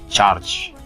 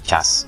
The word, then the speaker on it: charge: Charge, bukan cas. Saya ulang ya, charge, no cas. That is not a right spelling, or a right pronounce.